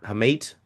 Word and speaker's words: hamate: how do you say that the bone hamat hamate bone bone yeah okay I saying it guys handbone you made me swear I wanted you to work through that hamate um and then it was just kind of